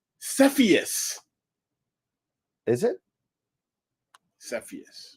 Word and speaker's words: Cepheus: targets in Cepheus, and we're going to have pronounced Cepheus. Is it Cepheus?